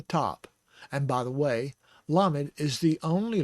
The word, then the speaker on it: lamed: Okay, lamed is spelled lamed mem dalet, and the lamed has a kamatz underneath. The mem has a segol. The dalet is the hard D sound because of the dagesh inside. So that is la med, lamed. And it's spelled in English L-A-M-E-D.